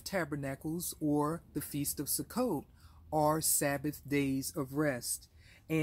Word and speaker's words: Sukkot: So our fast fact number one is Sukkot. Sukkot, S-U-K-K-O-T, is another name for the Feast of Tabernacles in the Hebrew language.